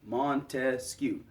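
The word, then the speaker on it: Montesquieu: Now, Montescu, you notice his name has three syllables in it, right? Montescu.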